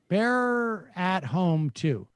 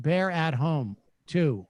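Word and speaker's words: BearAtHome2: back by the way my name is pronounced bear at home 2 or bear for short I have no projects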